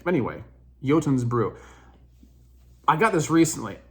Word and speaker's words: Jotunns: I'm using mad Vikings yotun's Brew it's spelled funny it doesn't it's not pronounced the way you think anyway yotin's Brew I got this